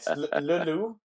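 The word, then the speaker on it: Le Loup: No, it's Leloup.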